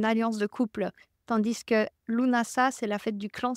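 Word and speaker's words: Lughnasadh: imbolk et Lunas LNAs vous allez m'entendre le prononcer plein de façons différentes lunasa c'est la version juste et lunasa c'est des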